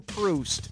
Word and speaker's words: Proust: who wrote remembrance of things past was Marcel proust as in when I'm Juiced I need a boost to get goosed I read proust all right coming at you I can't